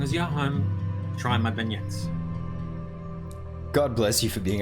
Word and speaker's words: beignet: I got the pronunciation wrong. Beignet. Should have remembered my French.